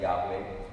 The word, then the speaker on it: Yahweh: In English, we sometimes pronounce this Yahweh.